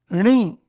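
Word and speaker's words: णि: Ni, Sanskrit word, it's written Ni, but when you pronounce it, it is not ni, it's ni. Just twist your tongue a little. It's the same na that is used in Krishna.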